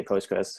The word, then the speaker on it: Postgres: the in a pronunciation i say postgres mainly because it's easier to pronounce you can also say postgresql so those are the same they're interchangeable um so postgres is